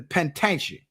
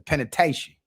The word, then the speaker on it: penitentiary: up to the pen to the penitentia. That's how they say it in Texas, the penitentiary.